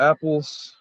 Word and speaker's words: Appel: springs they're they're the apples um spelled a-p-p-e-l pronounced apple and um and the